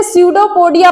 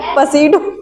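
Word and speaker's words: pseudopodia: सडोपोडिया की स्पेलिंग कोई बताएगा? [गला साफ़ करने की आवाज़] साइलेंट रहता है ना? इसी तरह एक सर थे। क्या ही बताएं। वह सूडो को पढ़ रहे थे पसीडो हां उसका कुछ [गला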